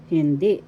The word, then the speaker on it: hindi: Hindi, first syllable hin, second syllable di. Di, second syllable, the accent.